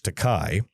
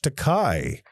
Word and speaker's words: Takei: George tocai you piece of shit. Oh my I love watching other people die. I'm George dekai tocai rhymes with dye.